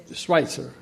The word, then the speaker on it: Schweitzer: Schweitzer. Una pronunciación no alemana.